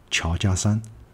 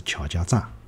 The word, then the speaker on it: 乔家栅: 桥家商，所以我觉得辣辣普通话里向呢，应该也是叫桥家商，而勿是桥家炸。辣普通话里向迭个炸迭个字呢，本身也就是一个多音字，可以读炸，也可以读山。